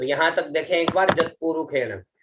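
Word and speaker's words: यत्पुरुषेण: जत पुरुखेण, प्रथम शब्द है ज, आधा त, पु रु खे और न। इसको ख का उच्चारण करेंगे, ठीक है, खे और न, ठीक है। तो हुआ जत पुरुखेण, ठीक है, जत पुरुखेण।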